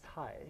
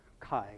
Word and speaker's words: Cai: So we pronounce as a Tsai. So it sounds like T-S-A-I, or it's like in Greek letters, Tsai. So it sounds more likely Kai, but it's okay if you call Kai using English pronunciation.